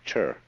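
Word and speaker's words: 事: are so that you get the point first of all there is a a level of being which we will call G the word g which is Japanese way of pronouncing the Chinese chur is the world of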